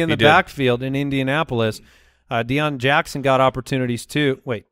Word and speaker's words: Deon: Deion Jackson got opportunities too. Wait, did I say that right? No. I got the name wrong. We'll figure that out. That sounds right. That's right. Deion Jackson?